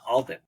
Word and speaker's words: Alban: design and today we have with us Alton am I pronouncing your last name correctly yeah you go